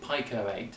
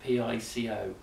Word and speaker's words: Pico-8: works by the way I keep trying to call it Piko eight as it's about P ICO but it's as you pronounce to Pico not FICO so if I say